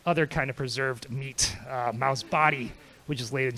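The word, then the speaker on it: 毛: I'll just say the first character is pronounced Mao.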